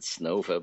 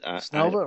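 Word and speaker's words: Снова: I think they pronounced it Snova, but Snova?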